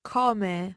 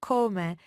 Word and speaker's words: come: it in both ways common or common and it varies depending where you are in Italy so it's a regional thing let's say but don't